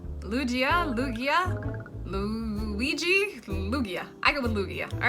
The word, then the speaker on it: Lugia: we have Tyranitar moving on again we have Lugia all right Lugia Lugia Lugia Luigi Lugia I go with Lugia all right we have